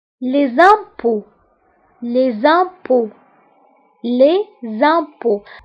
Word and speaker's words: impôts: Les impôts. هنا أوكي نكتبوها بأكسان سيركونفليكس و ت لا تنطق.